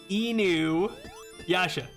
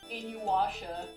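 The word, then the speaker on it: Inuyasha: My Japanese pronunciation's bad. Not in aa. I didn't say in aasha sound like Enu Yasha, right?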